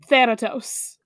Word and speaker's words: Thanatos: It's AE as in bad. So Thanatos.